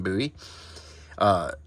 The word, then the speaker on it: Bowie: This is about Bowie, depending on how you pronounce it. Bowie if you're David Bowie, Bowie if you're Jim Bowie.